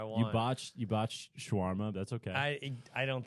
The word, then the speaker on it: Shawarma: little different spices it's also not said like Shawarma it's just schwarma Shawarma schwarma I don't know I don't believe in Allah I don't I can say however I want you botch you botch schwarma that's okay I I don't think you've maybe